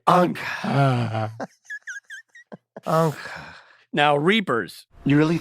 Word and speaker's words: Ankh: It's spelled A-N-K-H. Ankh.